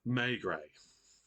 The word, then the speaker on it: Maigret: Maigret. Next time I'm going to write it in brackets how it's pronounced.